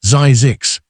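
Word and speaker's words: Zzyzx: fake health spa, and named it Zisks, pronounced Zizix, so it would be the final listing in every directory.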